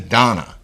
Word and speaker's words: Dana: know it's spelled but she told me to my face she pronounced her name is Donna even though it's spelled